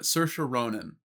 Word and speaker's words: Saoirse Ronan: It took me a second to recall, but Saoirse Ronan.